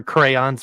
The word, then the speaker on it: crayons: There's clearly 2 syllables in that word. Clearly. You just read it phonetically.